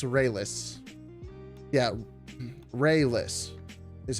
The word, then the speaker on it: Raelice: kind of re-enter the channel so is it pronounced ray-less i thought it was rail ice it's it's rayless yeah ray-less is how you say it check